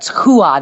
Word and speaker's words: Rua: So Antonio Rodrigo Nogueira, and that's why it's like it's Hua, not Rua.